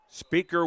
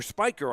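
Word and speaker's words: Spicher: 38 maybe the 39 or Spiker I'm I beg your pardon his name is spelled like speaker and I don't mean radio speaker s p i c h e r gain of five to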